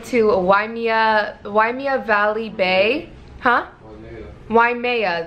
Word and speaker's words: Waimea: Waimea, that's how you say it, Waimea.